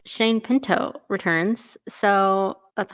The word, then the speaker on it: Shane Pinto: Shane Pinto returns.